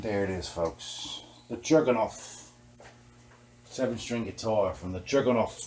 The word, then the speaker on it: Chernigov: I saw on Wikipedia that the real way to pronounce it is Chernigov. You know what I'm saying, man? It's not Chernihif.